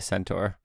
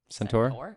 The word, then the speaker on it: Centaur: it's a UR okay you know how it's spelled but you're calling it tor Centaur yeah Centaur centur